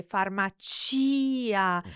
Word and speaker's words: farmacia: So in that case, if we slow down and say farmacia, so the chi syllable is emphasized in that case.